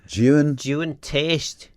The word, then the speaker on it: Juan Teays: So, if the bird is, how would you pronounce this bird? Juan Teayst.